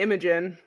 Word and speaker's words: Imogen: I say Imogen.